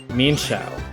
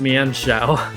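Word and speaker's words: Mienshao: Mean Shao. It might be right, but I don't like it. It's Mian Shao.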